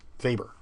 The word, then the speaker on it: Weber: So please remember Max Weber.